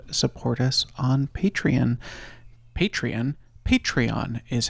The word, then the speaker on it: Patreon: Patreon Patreon is how you say that word at the link in the show notes.